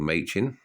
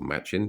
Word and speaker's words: Machin: For those of you that don't know, these stamps here were made by a famous designer called Machin, or Machin, depending on how you like to pronounce it.